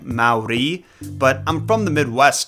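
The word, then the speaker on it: Māori: my corrected pronunciation of Maori is wrong because I guess natives roll their R's when they say it. I believe that sounds like Maori, but I'm from the Midwest, dude.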